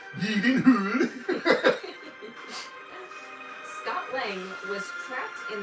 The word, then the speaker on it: Gyllenhaal: Played by Jake Gyllenhaal. Or if you look up when Jake was on Conan O'Brien and Conan asked him how to properly pronounce his last name, it was like Yeedenhood.